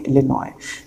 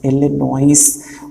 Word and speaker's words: Illinois: अब यहाँ पे देखिए ये बड़ी इंटरेस्टिंग स्पेलिंग है इलिनॉय, that is ILLINOIS, that is इलिनॉइस। उसमें लिखते हैं इलिनॉइस है, बोलते इलिनॉय है।